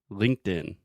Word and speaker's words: LinkedIn: excellent so start slow say the two sounds separately linked Linked In in okay I'll say it